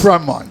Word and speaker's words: Fremont: Well, it's a long E. It's Fremont. It's a long E. It's a long E sound.